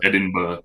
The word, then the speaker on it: Edinburgh: with the Scottish accent. Edinburgh. It's pronounced Edinburgh.